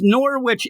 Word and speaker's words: Norwich: It's Norwich, England, is how they say it.